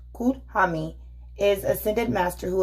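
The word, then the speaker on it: Kuthumi: please comment down below kutami pronounced cool huh me is a sentient master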